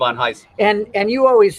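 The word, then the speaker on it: Ivan Reis: People know him as Ivan Reese, right, but by his own pronunciation, right. Okay. It's Ivan Heiss.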